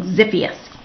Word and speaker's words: Xiphias: X is for Xiphias gladius, pronounced, oops, I said it wrong, Xiphias.